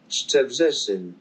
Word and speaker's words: Szczebrzeszyn: This is tough. Sheje Bregesen. Szczebrzeszyn. Not even close. Okay. Szczebrzeszyn. I think we have one syllable too much.